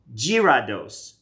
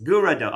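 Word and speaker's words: Gyarados: Girados. Girados. Gurado.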